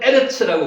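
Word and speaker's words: ארץ: 셋째 날에 에레츠 아까 우리는 하아라츠라고 읽었습니다. 발음이 약간 변해되는 거예요. 원래는 에르츠라고 보시면 맞습니다.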